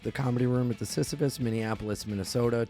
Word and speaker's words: Sisyphus: comedy room at the Sisyphus, Minneapolis, Minnesota. 2 shows, 7 and 9:30. It's pronounced sissy face. Sissy face. No, it's not.